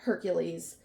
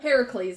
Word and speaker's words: Heracles: Hercules, which that's not how they pronounced it in the book, but whatever. Yeah, it was. Yeah, that was a little confusing, too. But Heracles is what they pronounced in the book. And then yeah, as Americans, Hercules is what we know him as.